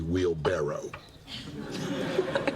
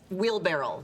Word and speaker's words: wheelbarrow: is going on is it is actually wheel barrow no it's not that's ridiculous it's wheel barrel barrel it's a barrel with a wheel on it except that it isn't